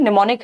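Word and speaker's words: mnemonic: तो ये निमोनिक है। एम से शुरू होता है। एम साइलेंट है। तो यह निमोनिक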